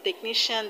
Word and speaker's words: technician: stress on tri electrician and in technician the stresses on ni ni technician now